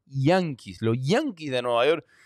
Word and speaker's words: Yankees: que me están viendo que se dice yanis nosotros decimos Yankee Pero tú le dices yanke a cualquier gente que habla inglés y no te entiende hay que pronunciar la i yanis Los Yankees de Nueva